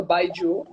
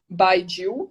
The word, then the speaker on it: baijiu: Mas existe uma bebida chinesa chamada baijiu, baijiu, né? A gente fala baijiu, hum. mas se escreve baijiu, que jiu é bebida alcoólica, né?